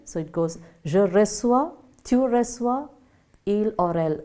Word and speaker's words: reçois: Okay, just below that you have the accent called cédille, just to give a little difference in its pronunciation. So it goes, je reçois, tu reçois, il or elle reçoit.